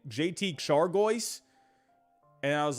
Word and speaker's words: Chargois: this guy's name jtique chargois and I was like and I went to the pronunciation I'm like shagwa what the heck is